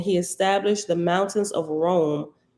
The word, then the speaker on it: Roam: established the mountains of rome r-o-a-m like rome we're gonna roam on down the street roam from country to country that's what's called rome and it's spelled like that so brahma did as